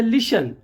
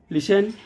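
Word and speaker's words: listen: लिख के आए तो टी का उच्चारण नहीं होता है वो साइलेंट हो जाता है य लिसन लिसन में एस टी ई एन है लिसन ऑफेन तो ऑफेन जो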